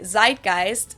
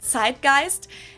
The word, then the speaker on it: Zeitgeist: Americans usually say Zeitgeist. In German, we pronounce it Zeitgeist.